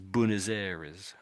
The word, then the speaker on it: Buenos Aires: This is in Latin America and it's mainly said as bunazeris.